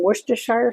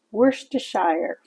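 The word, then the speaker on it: Worcestershire: to make it look pretty I've got some wor toire sauce yes it's pronounced wor toire I'm going to use just a couple of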